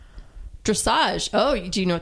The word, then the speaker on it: dressage: Am I pronouncing it correct? Dressage. Dressage.